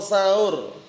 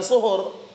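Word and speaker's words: سَحور: Suhur perbuatannya, sahur makanannya. Makanya orang-orang kalau bangunkan sahur, sahur bukan suhur.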